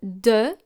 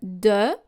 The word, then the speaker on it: de: First of all, separately, du, and then de. Make sure to make two different sounds, u and e, and then closer to each other. Du, de, until you can clearly hear the difference.